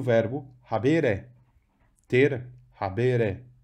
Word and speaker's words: habere: Habitat, mora, tem a mesma raiz que o verbo habere. Ter, habere. Vejam que o E é longo, da segunda sílaba, portanto, o acento cai lá.